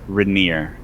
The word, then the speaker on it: Reynard: We stumbled upon Reynard while he was trapped here, and we instinctively decided to rescue him because he was caught in the storeroom. It is pronounced Rainier, and I want to